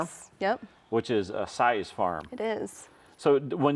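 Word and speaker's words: Seys: Most of it's says or something else that's not even close to size. Well, it's S-I-Z-E, isn't it? Nope, it's S-E-Y-S.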